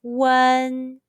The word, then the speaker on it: un: round to spread and be careful one in chinese is pronounced differently from the when in the english name wendy say one now mimic